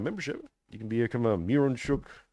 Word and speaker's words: Mironchuck: Miron, as it's spelled, Miron, is pronounced mir, like one of the things they gave Jesus, myrrh, frankincense, gold, frankincense, and myrrh. Right, so mir, Mironchuck.